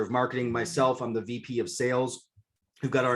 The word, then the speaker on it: Viv: get this going guys so v not viv okay for those of you who don't know who have never seen this before it's pronounced v then v comes from the latin where it means life or to come alive so vive means life